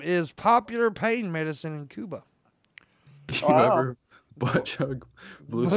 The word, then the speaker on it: Cuba: Pepe Casillas, a 78-year-old Cuban farmer, and by the way, I am saying Cuba because that's how you're supposed to pronounce it. Cuba, not Cuba.